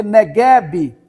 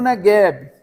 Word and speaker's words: Negev: norte quando fala Sul em hebraico é negev negev na Bíblia em português a gente lê neguebe né lembra do o deserto do negueb quer dizer é o negev em hebraic a pronúncia negev em português negueb quem está indo pro